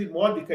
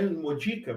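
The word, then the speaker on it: immodica: Aqui, essa palavra imódica, perceba que eu estou lendo imódica e não imodica, porque o DI, a penúltima sílaba, o di, ele tem breve, o que faz com que a acentuação fique proparoxítona.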